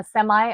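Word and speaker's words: semi: जाएगा semiconductor design या सेमाई आप सेमी सेमाई दोनों दुरुस्त होते हैं प्रोनाउंसिएशन में तलफुस में डिज़ाइन और रिसर्च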